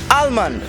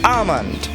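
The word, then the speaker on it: almond: আমন্ড, যার অর্থ কাঠবাদাম, অনেকের উচ্চারণ করে থাকেন আলমন্ড, যা ভুল। আমন্ড শব্দটির ক্ষেত্রে ইংরেজি বর্ণ এল উজ্জ্ব থাকে বলে এর সঠিক উচ্চারণ হবে আমন্ড।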